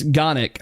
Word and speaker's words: Gonic: And I might have pronounced the name wrong because you know it's me. Oh, Gonic. I'm an idiot. It's Gonic. There.